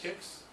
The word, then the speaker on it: Qix: that I had couldn't find was I think it had an emulator for was QIX, I think it's pronounced Kix. Kicks.